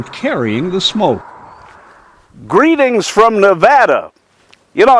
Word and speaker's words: Nevada: when I moved there, I called it Nevada. And everybody said, no, it's not Nevada, it's Nevada. I said, that's kind of ugly sounding. They said, we don't care. That's the way we pronounce the state.